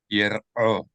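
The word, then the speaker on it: יראו: So this is not one syllable, ro, rather it's ra, o, ra, o. Yer, this is one syllable, yer, and then the second, o. Yir'o.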